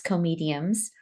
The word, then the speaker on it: comedium: There'll be a series of these comediums. You got to say it like comedium.